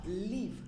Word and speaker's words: Live: you for having me live or leave I have to pronounce leave yeah Lea Lea Lea that's